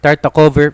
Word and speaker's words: Tartakower: We are playing the tarta cover variation or Tarta cover. Sabi V daw yung pronunciation ng W and because dinevelop niya yung knight sa F3 naging problema yung pin.